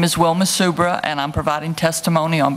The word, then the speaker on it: Wilma Subra: My name is Wilma Subra, and I'm providing testimony on behalf of Subra Company, Louisiana Environmental Action Network, and the Lower Mississippi River Keeper.